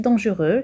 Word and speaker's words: dangereux: Nardo le mot dangereux, X se trouve en position finale de l'adjectif dangereux, c'est une lettre muette.